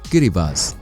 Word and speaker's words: Kiribati: किरिबाती शब्द गिलबर्ट्स का स्थानीय उच्चारण है। स्थानीय लोग ती को सा बोलते हैं, इसलिए गिलबर्ट्स बन गया किरिबास।